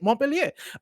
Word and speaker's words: Montpellier: That's how you pronounce it. That's how you say it, Montpellier.